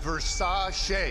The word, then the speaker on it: Versace: Pronounced Versace. Singer? That's Liberace.